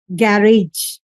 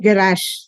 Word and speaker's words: garage: In British accent they say garage, and in American accent they say garage.